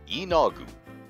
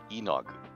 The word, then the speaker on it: Yeenoghu: YEENOGHU. And there are actually people in the realms who will go, YEENOGHU, YEENOGHU. So, any variation on stress and length that you, but YEENOGHU.